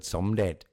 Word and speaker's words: Somdej: end of the word Somdet, it's not pronounced as a J. It becomes hard, like a T or a D.